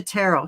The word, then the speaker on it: Tarot: And it's Tarot.